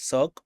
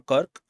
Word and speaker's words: cirque: This is also sometimes pronounced as Cirque or Kirk, and let's see what it is all about.